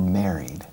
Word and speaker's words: married: Married or married? Married. ¿Cómo se dice María? Mary. Mary. Hello, Mary. All right, married. Married. Okay, hay que abrir un poco más la boca y la E. Married.